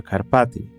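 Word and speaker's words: Carpați: much alive here in the Carpaththeians or the Karpati as they're pronounced in Romanian.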